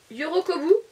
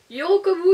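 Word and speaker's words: 喜ぶ: En japonais, la joie se prononce Yorokobou. Yorokobou.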